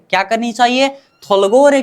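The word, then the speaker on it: 돌고래: मतलब अब इसका ग होनी चाहिए, ग प्लस ओ, गो। र प्लस ए, रे। थुलगोरे। क्या? थुलगोरे। क्या करनी चाहिए? थुलगोरे का मतलब होता है डल्फिन।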